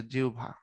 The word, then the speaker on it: জিহ্বা: এই উচ্চারণ বলার সময় জিহ্বা বলি এটার উচ্চারণ কি মূলত উচ্চারণ হচ্ছে জিউভা লেখার সময় তো সবাই